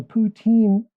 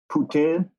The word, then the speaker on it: poutine: poutine restaurant in town I think they say Putin Putin I don't know you have to have a little bit of a French accent since we're so close